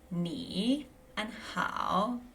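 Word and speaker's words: 你好: So, this one will be knee and how. A note about tones is that when ni and how go together, there's a slight pronunciation change. So ni becomes second tone and how becomes third.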